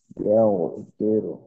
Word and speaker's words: يغفر: يغفر الذنوب يغفر يغفر গয়নের উচ্চারণ يغفر গয়ন তো মোটা يغفر হরফ, তাই না? এখানে আওয়াজটাকে একটু মোটা রাখার চেষ্টা করতে হবে।